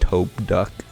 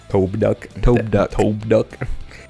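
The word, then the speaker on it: Tobduk: I also remembered it's pronounced Tobe-duck. Tobe-duck.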